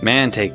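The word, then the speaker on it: Mantaic: has to say about those knights in manake manake that's how you pronounce it man Assuming he's still in nordopolica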